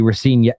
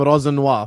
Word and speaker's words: Rosenior: Spicy Brighton's fans will be Rosenior out before Mo learns to pronounce it right. Yes, Mo's been calling him Rosenior for the last week. And it's been Rosenior!